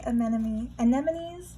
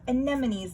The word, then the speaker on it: anemones: And it looks to me like sand dollars and sea anemones. I always mispronounce that. Anemones, not anemones.